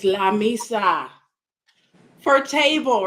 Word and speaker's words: mesa: I was just like, because I think I said misa instead of mesa. It's yeah. I was like, it's the same thing. And she's like, Mom, you have to say it like the Spaniards.